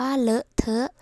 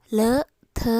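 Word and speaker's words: เลอะเทอะ: นี้ คือ คำ ว่า เลอะ เทอะ สะกด ว่า รอ เออ เหรอ เอ้อ ทอ เถอะ เถอะ เลอะ เทอะ ๆ และ ประโยค ที่ 5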